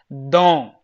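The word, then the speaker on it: dent: is there then you will pronounce this as pronounce it as dong okay why don't because first thing is in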